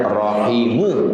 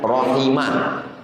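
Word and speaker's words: رَحِمُهُ: Warahimuhu. Bacanya rahimu. Marfu bukan rahima bukan rahimi.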